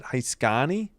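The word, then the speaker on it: Heiskanen: Heani. Heani. So you don't pronounce the last N I guess.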